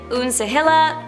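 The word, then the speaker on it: Uncegila: up has been different it's spelled u n c e g i l a I'm going to say it unila and now the villain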